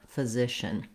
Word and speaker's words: physician: So it may be helpful for you to think of it as a schwa, like physician.